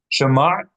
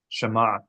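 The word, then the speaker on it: שמע: Shema is a two-syllable word. Sh and ma. Shema.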